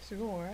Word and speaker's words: Sugawara: Sugawara.